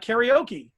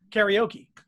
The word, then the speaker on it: karaoke: of everything that's new like karaoke it's a mispronunciation mispronunciation of japanese karaoke but in english we just say karaoke you know and so